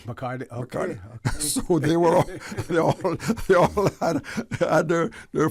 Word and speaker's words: Bacardi: Bacadie, back in those days, is the pronunciation of Bacardi. Bacardi, okay. Bacardi.